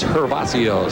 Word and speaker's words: Gervacio: super panamoids dominican republicans hervacio starts with a g pronounced like an h in september of 90